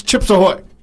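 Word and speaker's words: Chips Ahoy: a chip AO Hoy and I'm like it's chips aoy but he doesn't say it right but I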